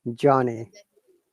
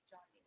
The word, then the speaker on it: Johnny: It's pronounced like John, like the boy's name, John, Johnny. and then you add me, so Johnny.